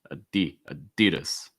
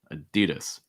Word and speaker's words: Adidas: but this company adidas stressing the the second syllable adidas adidas all right so those are just some examples